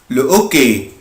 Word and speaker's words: le hockey: معناه بكل بساطة لكم القش هنا مش لتر فويل مش هتبقى ال ابوستروف هتبقى لو اوكي لو اوكي لو اوكي